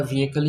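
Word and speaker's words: vehicle: থেকেই শুনে নিতে পারেন ওরা ভিহিকেল উচ্চারণ করে যদিও লেখা থাকে ভেহিকেল এবং আমাদের দেশের নিউজ পেপার গুলাতে স্পেশালি বাংলা নিউজপেপার গুলাতে এটা কিন্তু ভেহিকেল লেখা হয় কিন্তু এটা this is not right pronunciation এটা ভেহিকেল না এটা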